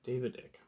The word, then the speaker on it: David Icke: I think I'm pronouncing it right. David Icke. I thought so. Okay, David Icke.